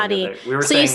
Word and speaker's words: Hati: Hati. Did you see it's inactive? So is it a she or a he? I want to say it's a she. Sounds like a girl. Sounds like a girl. Hati.